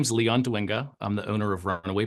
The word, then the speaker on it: Dwinga: pronounce your last name it's pronounced dinga dinga I would have said